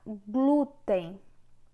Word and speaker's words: glúten: Na palavra glúten, o glu é que tem uma força maior.